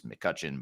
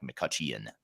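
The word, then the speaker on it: McCutcheon: e o n so there's an e in there that's silent but it's McCutchen but with an e in there that makes it sound like makuchan which is how I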